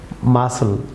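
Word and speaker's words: muscle: Viewers যেমন মাসল, viewers এখানে C silent থাকবে, মাসল।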